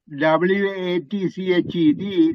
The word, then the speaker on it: watched: watches no no okay remember I said w a t c h e d that is almost like silent so you say watch watched okay continue please many corners